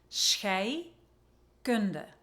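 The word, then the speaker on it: scheikunde: chemistry which is not an easy word to pronounce so repeat after me Shay gunde really refers to the process of decomposition so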